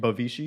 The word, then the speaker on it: Bavishi: with it yeah I said it right right bavishi yes yeah some people would be like bavishi